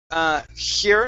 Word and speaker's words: her: So lighten the H. Relax a little bit. Okay. You want your tongue to flatten out a little bit closer to the bottom of your mouth. Like that. Okay. Her hair. Her hair. Her hair. Okay. There you go. Okay, nice and light. Nice and light, okay?